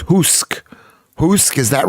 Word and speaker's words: Usk: Pronounced Husk. Husk, is that right, Ruben? Is that how Usk is performed? Pronounced? Oost. Pronounced. Usk.